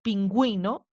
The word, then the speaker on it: pingüino: Se colocan horizontalmente sobre la vocal U para indicar que ésta se debe pronunciar.